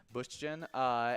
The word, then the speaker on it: Bündchen: Bündchen, and a Brazilian supermodel known for her work with Victoria's Secret, as well as being the famous wife to Tom Brady.